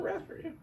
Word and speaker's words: raspberry: Yeah, it is a raspberry. I love how there's a P in the rasp raspberry. Raspberry, but nobody ever pronounces it that way. It's always raspberry, not raspberry. It's just one of those interesting things about the English language.